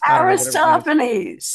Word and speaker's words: Aristophanes: Aristophanes. Thank you. Just like it's spelled.